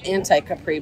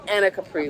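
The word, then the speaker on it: Anacapri: I want to say anti-Capri, but I know that's wrong. Anna Capri, which she said means high city.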